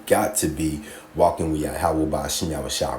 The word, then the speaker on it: Yahweh: And I'm not going to play it because it's going to mispronounce his name on purpose, but it's Yahweh.